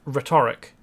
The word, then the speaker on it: rhetoric: I have a problem with the word, well, the pronunciation of the word rhetoric. I mean, if you ask a question, you don't ask it rhetorically, do you? You ask it rhetorically. The emphasis is on a different syllable.